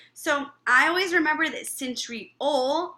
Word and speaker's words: centriole: So I always remember that centriole rhymes with pole.